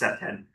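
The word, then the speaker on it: CPTED: It's pronounced CEPTED.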